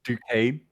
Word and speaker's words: Duquesne: It's just Duquesne. Duquesne.